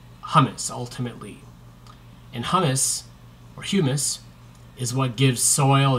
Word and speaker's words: humus: organic components of soil is hummus or humus I guess people typically pronounce hummus the the food that people eat but humus is is partially decomposed organic matter so when things die